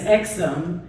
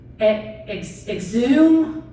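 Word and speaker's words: Exum: then and my last name is exome so I got that right you did and normally like all growing up because it's e-x-u-m and all throughout school and any time that somebody has to pronounce my name they're like uh exhume our Carolina Zoom is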